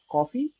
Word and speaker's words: KOFI: created using Android studio my app name is called coffee it's called it's spelled k fi and uh let's now